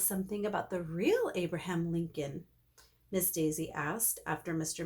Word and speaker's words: Lincoln: Who can tell us something about the real Abraham Lincoln? Miss Daisy asked after Mr. Macky left with his hat and beard. Lincoln rhymes with stinkin', I said.